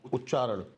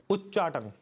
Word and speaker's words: उच्चाटन: उच्चाटन। उच्चारण। उच्चाटन।